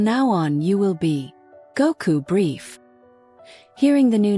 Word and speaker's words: Goku: your name will be Goku. He pronounced the two syllables clearly with a joyful somnity. Go like the force that brought you here and coup like the sky you fell from.